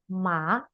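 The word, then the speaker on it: má: Nah, nada kedua ya tandanya seperti dari bawah naik ke atas. Nah, cara bacanya juga seperti itu menjadi ma ma agak lebih dari bawah ke atas seperti kita gini.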